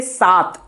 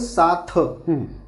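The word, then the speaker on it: सात: Now again here I am warning you. Sat. It is a th. It is not a th. Many people, many foreigners or the many people who comes from the South India, they call it as a sath.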